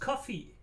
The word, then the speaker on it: Ko-fi: Kofi is pronounced coffee.